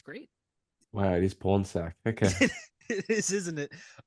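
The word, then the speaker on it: Pornsak: guy that wrote this I hate saying his name because it's literally pronounced porn sack but he's great he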